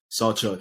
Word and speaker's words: Sawchuk: pronounce your last name saw Chuck it's just like it like it's spelled s-a-w like the saw and then Chuck just don't forget just